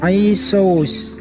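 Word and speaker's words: Ἰησοῦς: Di sini yang saya tunjuk ini, ya, itu dibacanya Isos, ya, karena Yunani kan pakai tambahan S. Sebenarnya mereka mengenalnya itu Iso, tapi ketika dibahasakan ke Yunani menjadi Isos gitu, tambahkan S ya.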